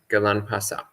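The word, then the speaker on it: ගිලන්පස: Galanpasa. So Galanpasa, this is the Sri Lankan pronunciation of the Pali Galana Pachaya.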